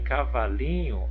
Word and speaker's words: cavalinho: Em cavalinho, a sílaba tônica é o li.